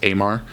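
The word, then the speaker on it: Eimar: I believe it's pronounced Amar.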